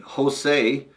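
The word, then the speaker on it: Hosei: be something cool and Jose which sounds like a Hispanic guy but it's spelled h o s eii kajima Kima yep sounds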